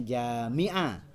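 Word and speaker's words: جامعة: alifnya setelah gym dibacanya Jami'ah Kalau alifnya setelah NIM jamaah Jamaah itu yang itu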